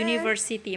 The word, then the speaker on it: university: contoh disini University ya tulisannya kan uh pakai Uya University tapi cara bacanya you pakai Yi University maka kita pakainya E7